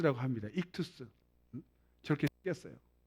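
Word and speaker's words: ἰχθύς: 이름이 물 고 기 만 헬라어로 뭐라 줘 발음은 다양하지만 한국사 분양 립 투 스 라고 합니다 이투스 적혀 뺐어요 이 그 절수 헬라 이투스 인데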